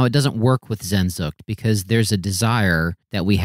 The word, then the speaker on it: Sehnsucht: One of our listeners wants us to say Sehnsucht. And right. my rebuttal would be, or my reply would be, we don't say Paris, we say Paris. So we're gonna allow that word to be Americanized or anglicized.